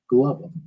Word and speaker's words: Glover: get glover out of glover right that's not clover they don't pronounce it like clover but with a g mhm and i'm like